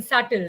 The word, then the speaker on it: subtle: can anyone think of putting b in subtle right the silent letter silent letters in the